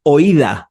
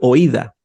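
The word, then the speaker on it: οἶδα: Sino que es una palabra, la palabra oída, o así suena, así se escribe, oída.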